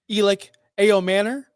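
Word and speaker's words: Elic Ayomanor: So, 6'2, 210 pounds, fourth round pick, Elic Ao Manor. That's right. I pronounced it correctly.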